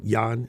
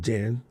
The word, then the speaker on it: Jan: Netherlands um but yeah like Yan instead of Jan yeah anyway I'm practicing